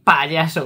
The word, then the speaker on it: payaso: Y tienes que decirlo así, payaso, con mucho énfasis en la P.